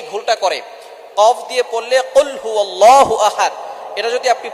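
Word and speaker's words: قل هو: আমরা অনেকেই কফের জায়গায় কাফ পড়ি। একটা হচ্ছে কফ। আরেকটা হচ্ছে কাফ। কাফটা একটু পাতলা হবে। চিকন হবে। আর কফ একটু শক্ত করে পড়তে হবে।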